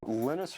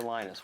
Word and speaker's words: Linus: Linus or Linus? What's your preferred pronunciation? When I speak Swedish, it's Linus. When I speak Finnish, it's Linus. When I speak English, it's Linus.